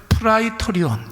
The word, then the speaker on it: 프라이토리온: 여러분,이 본문에서는이 과정을 거쳐서 16절 말씀을 보시면 예수님이 브라이도리온이라는 뜰 안에 서게 됩니다. 여러분, 브라이도리온이라는 말은 원래 발음은 프라이토리온 이렇게 발음을 하는데 다른 복음서에서는 관정 이렇게 이야기했습니다.